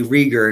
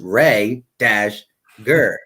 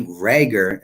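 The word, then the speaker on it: Reagor: didn't say Jalen Rhaegar let me say Rhaegar because I always say Rieger and and a couple people in my last video was like it's pronounced ray - gur so let me say Rhaegar instead of Rieger because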